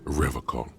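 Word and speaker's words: Revachol: He pronounces Revocol with a hard K, unlike other people.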